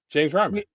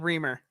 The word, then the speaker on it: Reimer: I don't know who that is, but before that, James Reimer. I think you said Reamer.